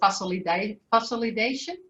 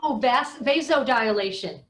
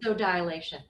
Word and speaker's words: vasodilation: Do I pronounce that right? I hope so. What was that last word? We call it vasolidation. So, vasodilation. Got it. Oh, vasodilation.